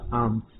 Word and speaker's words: alms: और भीख के लिए इंग्लिश में आर्म्स लिखते हैं, ALMS, लेकिन यहां पर L साइलेंट रहेगा और इसका प्रोनाउंसिएशन होगा आर्म्स।